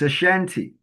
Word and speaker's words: Ashanti: Like if you say the people of the Ashanti in Ghana, they spell it Asanti or TE, but it's Ashanti.